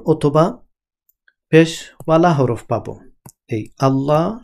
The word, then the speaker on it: الله: হরফ পাবো, এই আল্লাহ শব্দের আগের হরফে যদি আমরা জবর অথবা পেশওয়ালা হরফ পাই তখন এই আল্লাহ এই শব্দটা মুখ ভর্তি করে উচ্চারণ করতে হয়। কিন্তু যদি জের থাকে তখন কিন্তু মুখ ভর্তি করে উচ্চারণ করা যায় না। যেমন বিসমিল্লাহ, মিম লামজের মিল,